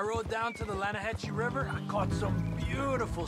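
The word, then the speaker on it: Lannahechee: other day I roll it down to the Lana Hetchy River I caught some beautiful steelhead trout you made in Atlanta no no the Lana hatch it runs right here here yeah but it's pronounced Lana Hass why is everything in English said differently than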